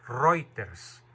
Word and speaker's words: Reuters: dije de la agencia reuters se escribe reuters se pronuncia reuter el periodista Alessandro Bianchi